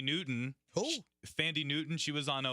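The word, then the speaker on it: Thandiwe: it's fantastic but she said that her real pronunciation for her name is tandy waves it would be pronunciation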